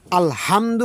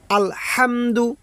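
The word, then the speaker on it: الحمد: আশা করি বুঝতে পারতেছেন কেননা একটি মাত্র অক্ষর এখানে গোল হা এখানে লম্বা হা এখানে লম্বা হা উচ্চারণ হবে গলার মধ্যে শস করে শব্দ হা এরকম হা আর এটা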